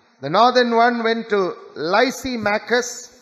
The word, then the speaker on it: Lysimachus: The northern one went to Lysimachus, L-Y-S-I-M-A-C-H-U-S, Lysimachus.